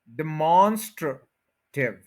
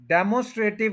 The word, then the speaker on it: demonstrative: और मॉन को आपने स्ट्रेस दे देना, डिमॉन हो गया। उसके बाद गौर करें ये भी यू एच श्वास साउंड है, अ, और उससे पहले एस टी आ रहा है, तो ये बना स्ट्र, स्ट्र, डिमॉन्स्ट्र, demonstrative, demonstrative, demonstrative, demonstrative, डेमोस्ट्रेटिव या इस तरह से जैसे भी बोलते हैं वो गलत है।